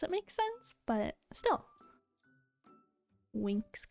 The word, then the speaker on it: Winx: Winx Club. I mean, that's how it's pronounced. It's just not how it's spelled. It's, if you're not familiar with it, it is a Twinks Club. Oh! That would be a pretty solid show too. But no, Winx Club was a, it's spelled with an X, by the way.